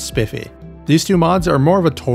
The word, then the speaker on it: Spiff UI: As for special mentions, I'll include Alternative Inventory Rendering and Spiff UI, which is apparently pronounced as Spiffy.